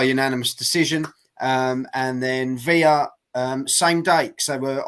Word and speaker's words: Villa: known as versus royman via uh or Villa as some people pronounce it July the 8th um